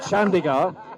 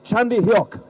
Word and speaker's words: Chandhiok: No, it's not Chandigarh, it's Chandhiok.